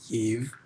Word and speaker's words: Yves: own streetwear line called yves streetwear written as yv but you like pronounce it as eve um so yeah i'm